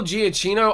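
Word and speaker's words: Giacchino: level in filmmaking and editing is great michael giaccino i believe that's how you say his name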